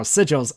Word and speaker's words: sigils: And yeah, I did say it right now, sigils.